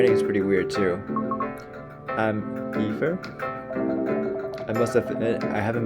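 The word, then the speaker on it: Aether: I'm Ether?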